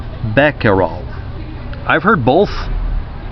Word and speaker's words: Becquerel: But it's Becquerel, Becquerel. So Becquerel. Yeah, that's correct.